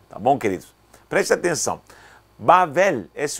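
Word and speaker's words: בבל: Bavel, esse é o nome original, Bavel.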